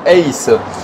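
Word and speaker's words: Hays: Ça viendrait de euh la société ACE qui s'écrit H A Y S qui est une société américaine qui produit donc des étriers de frein.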